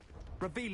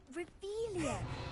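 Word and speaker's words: Revelio: Where are you, Ravilius? You're saying it wrong. Reveilia, much better.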